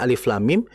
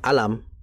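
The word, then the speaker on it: الم: Mak kayak tadi contohnya alif lam mim itu ejaan kita bacanya alif lam mim itu dengan ejaan. Kalau dengan ee hurufnya ya kita bacanya alam.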